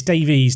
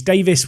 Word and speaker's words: Davies: alfonso davis or davey is it davies it's davies davis would be if is it davis or david alfonso davies i remember saying it wrong once and the youtube comments section came for me because i said it kind of the the way it would be if it was an english name it's davies i hope